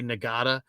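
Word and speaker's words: Ngata: from Sacramento Joseph NADA it's spelled n-g-a-t-a nagada played it at uh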